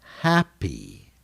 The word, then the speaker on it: happy: Happy, happy. A long E.